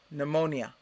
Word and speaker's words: pneumonia: you so much so hopefully now you'll remember to not pronounce the p with these words there are a few